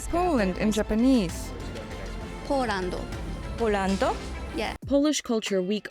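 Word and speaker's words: ポーランド: Polando.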